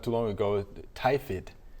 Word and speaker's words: tiphiid: Tiphiid is how you pronounce it.